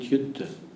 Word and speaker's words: Yuddha: In spite of that, we have so many wars, but India preaches Buddha, the peacefulness, peaceful atmosphere, and not Yuddha. Buddha rhymes with Yuddha.